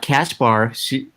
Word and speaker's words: Caspar: Okay, Caspar, like Casper the Friendly Ghost.